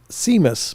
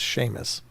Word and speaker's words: Seamus: I don't know where the SH comes from with Seamus.